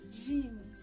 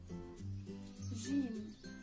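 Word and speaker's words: جيم: arabic and certain arabic it should sound like the j in the word gem while in egyptian arabic it sounds like dg in the word game they're both quite easy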